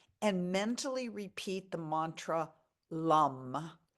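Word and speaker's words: Lam: mentally repeat the Mantra Lum it rhymes with gum but it starts with an L drawing out the last sound the root chakra is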